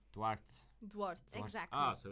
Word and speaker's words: Duarte: Laura Duarte. Duarte. Duarte. Exactly. Ah, so it's like water on rocks. You know, Duarte.